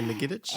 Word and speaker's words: Ngetich: Ngetich? Yeah, Ngetich.